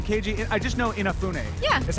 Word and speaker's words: Inafune: I always say his name wrong, Keiji. I just know Inafune.